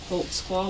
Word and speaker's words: Holtzclaw: your name Daniel holtzclaw holtzclaw what is that it's a German can you speak German